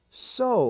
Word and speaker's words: sew: Feud and Deuce now the exception in that spelling form is the word s-e-w so like to so uh uh so uh so can't use cotton and sewing machine so sew to so and of course there's